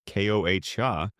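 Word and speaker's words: coa: Using a specialized digging stick called a koa, pronounced Koh-ha, a long, sturdy tool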